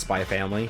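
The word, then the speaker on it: Spy × Family: By the way, y'all, the X is never pronounced if it's in the middle of a game or anything.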